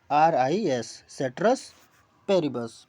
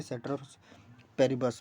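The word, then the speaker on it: ceteris paribus: उसका स्पेलिंग क्या होगा, सेट्रस पेरिबस, CETERIS, सेट्रस पेरिबस, PARIBUS, ठीक है ना, सेट्रस पेरिबस।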